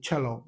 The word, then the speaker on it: cello: It can also give the shh sound as in social and it can also give us the ch sound as in cello.